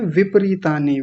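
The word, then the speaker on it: विपरीतानि: सुंदर उच्चारण बहुत बढ़िया और सबसे अच्छा उच्चारण बोला विपरीतानी ज्यादातर लोग बोलते हैं विपरीतानी विप नहीं विप प को आपने पूरा बोला बहुत बढ़िया शुभनम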